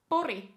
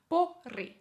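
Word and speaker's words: Pori: All right, and then the last on the list is Boori. Boori. Boori. Oh, my R's are a bit weird there. Boori.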